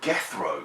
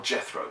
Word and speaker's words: Gethro: what there is is a gethro silver or Jethro but it's spelled with a G and not a j which at the time would imply that it was pronounced gethro and if you look up